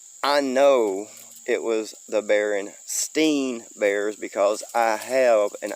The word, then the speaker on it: Berenstain: way it was spelt i always wanted to say stein and we used to